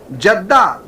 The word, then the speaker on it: جدہ: ساتھ ہی پڑھتے ہیں، اگر جیم کے زیر کے ساتھ جدہ پڑھیں تو معنی ہوگا برکت اور سعادت۔ یہ علاقہ برکتوں اور سعادتوں والا ہے، لہذا یہ تلفظ بھی درست معلوم ہوتا ہے۔ میں نے سعودی عرب میں جیم کے کسرے کا ہی استعمال دیکھا، جیسا کہ انگریزی رسم الخط